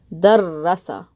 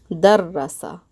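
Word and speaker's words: دَرَّسَ: When I put a shadda here on the ra, I now end up pausing on the ra, dar, and then pronouncing the ra a second time, this time with the fatha. Darrasa. Darrasa. So you're pronouncing that ra twice. Versus this one is just da, ra, sa.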